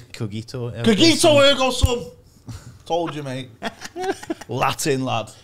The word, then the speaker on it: cogito ergo sum: Cogito ergo sum.